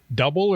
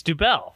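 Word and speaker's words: Dubbel: your family is it is it double or dubel it's dubel dubel right yeah so I said yeah if it was double it'd be spelled d-o-u-b-l-e I'm going against the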